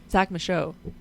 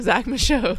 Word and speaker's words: Zach Michaud: The D is silent. Zach Michaud.